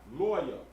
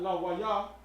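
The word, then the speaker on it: לוי: So here are the characters for lawyer. La, wa, and ya. La, wa, and ya. Lawyer. That's lawyer. Not la, wa, ya. Nah. Lawyer. Lawyer.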